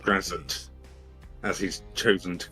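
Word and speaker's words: Graz'zt: It's Grazit, darling. It's Grazit. Say it correctly. Grazit, please.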